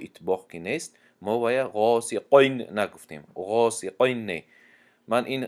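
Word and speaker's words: غاسقين: قاف که استعلا هست فکر میکنن که در حالت کسره بودن همی استعلا بر این تلفظ می شود، یعنی غاسقین می شود گفته، همین خیلی تلفظ میکنن غاسقین. این خطا است، بلکه غاسقین تونک خونده می شود قاف.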